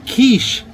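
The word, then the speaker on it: quiche: I said, "That's pronounced kiche, you dumbass."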